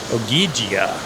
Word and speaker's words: Ogygia: He's on Ogygia, I think is how you say it, because he's trapped by this demigoddess named Calypso.